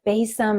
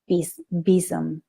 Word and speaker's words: besom: So Daria led this for us today, and I was like, it's a besom, it's a basum.